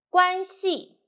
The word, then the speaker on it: 关系: 撇折撇折点竖钩点点关系关系 as a noun means relationship 我和你的关系是老师和学生 The